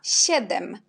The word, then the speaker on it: siedem: Après, on a SI. SI, on prononce comme dans le mot ślimak. Alors, on prononce si. SI, si. Et puis, on a siedem.